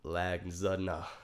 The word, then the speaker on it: lasagna: But wait, when you actually spell it, lasagna. Yeah. The G is silent and everything.